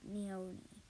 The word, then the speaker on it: Neonoe: But it's Neonoe. Like Neonoe. That's how you pronounce it, okay?